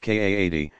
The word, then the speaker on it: qadi: matter before a religious judge called a qadi, pronounced Kaadi, himself authorized as a mufti, to adjudicate the matter.